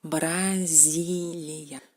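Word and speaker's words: Бразилия: Por ejemplo, Brasilia. Brasilia en ruso. En español es Brasil. ¿Cómo se pronuncia esta letra en ruso?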